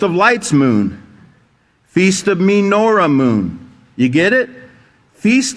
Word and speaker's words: menorah: It's menorah, not menorah, and we're going to see why here.